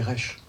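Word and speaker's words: ריש: Alors, dans l'alphabet hébraïque, la lettre R se dit Resh. Elle s'écrit avec une barre horizontale et une barre verticale, un peu comme le début d'un rectangle.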